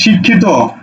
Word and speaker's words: শিক্ষিত: আচ্ছা আরেকটা শব্দ লিখি শিক্ষিত এটার উচ্চারণ কি হবে দেখো উচ্চারণ হবে শিক খ এর শিকারে খি তকারে ত শিক্ষিত কারণ শব্দের শেষে ত উচ্চারণ বলবত আছে ত তকারে ত ঠিক